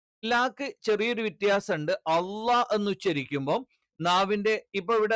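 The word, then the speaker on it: الله: അള്ളാ എന്ന് പറയുന്ന സമയത്ത് ഉച്ചാരണം ഇതേ സ്ഥലത്ത് നിന്ന് തന്നെയാണ്, പക്ഷെ എന്ത് ചെയ്യും നാവിന്റെ മധ്യഭാഗം ഉയരും.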